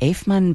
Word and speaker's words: Eifman: Now, we don't have a lot of time left, so let's talk about the Eifmann Ballet from St.